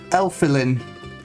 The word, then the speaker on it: Elfilin: great so your name is kirby i'm effelin uh uh elfilin nice to meet you sorry i just